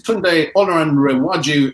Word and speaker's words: Tunde Olanrewaju: And we're going to first invite the first speaker, which is Tunde Olanrewaju, and I really pray that I got that pronunciation right, to join us.